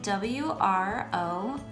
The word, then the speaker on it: wrong: The final word is spelled W-R-O-N-G, and it is pronounced wrong.